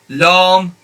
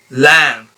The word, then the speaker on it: lam: and it's not long it's not long it's lamb the sound is between a and e lam meme the way you